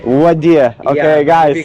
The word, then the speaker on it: Ouadia: How do I pronounce the name? Odia? Wadia. Wadia. Yeah, if you want to pronounce it correctly, it's Yeah. Wadia. Wadia.